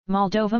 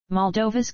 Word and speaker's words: Moldova: Moldova, mol-D-OH-və, sometimes UK, mol-D-və, Romanian pronunciation, officially the Republic of Moldova, is a landlocked country in Eastern Europe.